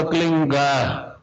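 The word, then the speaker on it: क्लीं: एक शब्द क्लीन शब्द क्या आधा लै में मिला हुआ, बड़ी की मात्रा और बिंदी, उसका उच्चारण होगा क्लीन गा। गा की ध्वनि निकलेगी पीछे।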